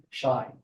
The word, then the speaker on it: Shai: His name is spelled in English, it would be transliterated to S-H-I-A-I, Shai.